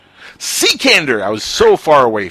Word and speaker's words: Cekander: Cekander. Cekander! I was so far away from that. Yeah, just the way it looks, Cekander.